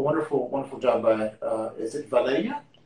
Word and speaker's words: Valeriya: So a wonderful job by is it Valeriya? Valeriya. Yeah. When I try to read it in an English manner, I mispronounce it.